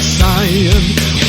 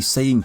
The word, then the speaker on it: Saiyan: English version of Saiyajin, as you can hear Vegeta sing in the song Saiyan Blood. I am the Prince of Saiyan, Saiyan Blood! The saying pronunciation is basically the equivalent of calling Ninja Gaiden Ninja Gaiden, except this one just never went away.